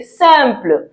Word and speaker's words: simple: So yes, in English you say simple, but in French, I am, so we say simple. Spelling, different pronunciation.